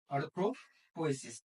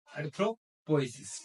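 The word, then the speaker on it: erythropoiesis: अब देखो बोलते नहीं आता, प्रोनाउंसिएशन नहीं करते आता अच्छे से, इतने अच्छे से, तो इसको क्या बोलेंगे आप, एरिथ्रोपोएसिस।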